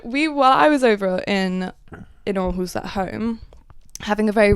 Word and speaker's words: Aarhus: How do you pronounce that? Aarhus.